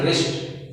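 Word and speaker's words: wrist: तो हमारा यहाँ पर भी क्या पोजीशन है, डब्ल्यू के बाद क्या आया, आर आया है, या फिर आर से पहले डब्ल्यू है, ठीक है ना। तो यहाँ पर भी हमारा क्या होगा, ये साइलेंट होगा, क्या होगा, साइलेंट। तो हम इस प्रकार साइलेंट कहेंगे, यहाँ पर इसको क्या पढ़ेंगे, रिस्ट, ठीक है ना, रिस्ट है।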